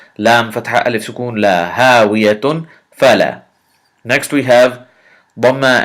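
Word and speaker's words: هاوية: Ha fatha alif sukoon ha, waw kasrawi hawi, ya fatha ya hawiya, ta dhammatan tun hawiyatun. Hawiyatun, this is the first word.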